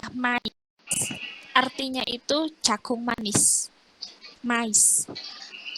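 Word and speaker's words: maïs: Contoh, mais, itu I-nya harus dibaca mais.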